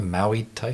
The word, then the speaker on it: Muay Thai: Yourself, Michael, you were I'm going to mispronounce this, a Muay Thai fighter? Oh, For 10 years? Muay Thai.